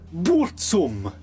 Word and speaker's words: Burzum: a handful of records under the name Burzum, or as he pronounces it, Burzum.